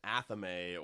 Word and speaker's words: athame: Whereas an athame or a thame, or there's a million different ways to pronounce it in Wicca.